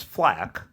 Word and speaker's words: FL4K: So first of all, before I explain why I chose Flack, I want to say that that sounds better than Flake. Really, yes, and it's spelled FL4K.